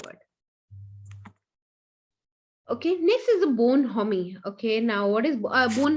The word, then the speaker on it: bonhomie: Okay, next is a bonhomie. Okay, now what is bon? No, it's not homie. Okay, it's bonami.